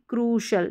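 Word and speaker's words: crucial: यहां पर क्रूश जैसे जुडिशल थी वैसे ही क्रुशल यानी उ का साउंड य प्रोनाउंस कर रही है उ का साउंड कह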